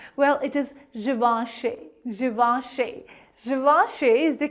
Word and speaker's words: Givenchy: Givenchy is the correct pronunciation of this luxury fashion brand, Givenchy.